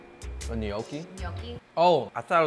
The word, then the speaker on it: gnocchi: It's the G is silent.